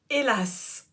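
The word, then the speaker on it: Elhaz: C'est Hélas. Et Hélas, et ça s'écrit pas H-E-L-A-S, ça s'écrit E-L-H-A-Z.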